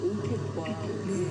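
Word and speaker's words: OFAC: 석교수국 그 오펙과 빡이라고 읽어야 되는 거거든요.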